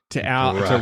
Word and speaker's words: Bruck: Bruck. To rhyme with Alan Ruck.